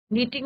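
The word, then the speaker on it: knitting: My mother was नीटिंग, नीटिंग में बच्चों case silent रहता है, नीटिंग मे be double T आई एन जी, नीटिंग a sweater.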